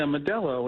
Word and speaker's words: Modelo: Is that how that's pronounced? Modelo? Yeah, Modelo, and they're the new number one beer.